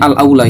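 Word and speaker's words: الأولى: Qala as-Sun'ani wal aula, itu bacanya al aula ya.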